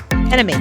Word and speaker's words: NME: Enemy, yeah. Mm-hmm. Enemy.